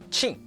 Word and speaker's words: qin: This in Chinese actually sounds similar to ch in English words like cheese or chocolate.